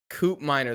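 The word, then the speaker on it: Koopmeiners: the guy's name that you went with again coupiner coupe miner that's how you say it okay i felt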